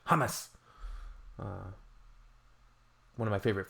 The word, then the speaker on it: hummus: And finally, it would really help if you dropped the British habit of stressing the first syllable with all foreign words. Example, Hamas instead of hummus. I pronounce it hummus.